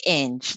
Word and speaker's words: Inge: I'm always asked how you pronounce my last name, but it's pronounced Inge, like a hinge on the door without the H.